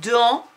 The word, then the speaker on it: dans: Il s'écrit avec le en, an, et il s'écrit avec un s muet dont je ne peux donner absolument aucune explication. Il faut que tu mémorises